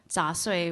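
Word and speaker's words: 杂碎: And, you know, chop suey in Chinese, chop suey is the Cantonese pronunciation. In Chinese, it's zha sui, which means, like, odds and ends.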